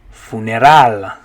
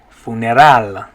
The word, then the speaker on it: funeral: okay our next one in english you'd say funeral funeral but in spanish you're gonna say funeral funeral good okay this next